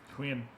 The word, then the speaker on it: Huynh: How do I pronounce your last name? Huynh.